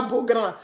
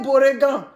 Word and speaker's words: Beaugrand: Et là même, je me trompe, mais je prononce même pas Beaugrand. J'ai dit Honoré Beauregan.